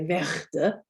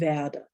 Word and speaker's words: werde: So the example in Werde, you don't say Werde, there's no R in there, so it's Werde, Werde. So it just depends where it's, so that's leading up to another consonant. We're not pronouncing it there.